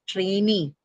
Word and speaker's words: trainee: Now, because the last syllable is a long vowel e, so automatically then the stress has to move on to the second syllable, although it is a